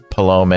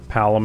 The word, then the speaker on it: Palom: believe so yeah yeah palum and porum yeah okay that's how you say it oh my gosh I said it wrong the whole time it's their Tech space